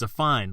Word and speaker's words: affine: I could hear like how it's actually pronounced so it's a fine like a fine day and a fine basically